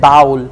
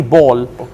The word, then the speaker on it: ball: you said the uh you mispronounced the word ball you said bowl it's actually ball right and then you